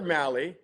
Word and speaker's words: Mahle: Tyler Mali rhymes with rally uh officially signed with the Giants.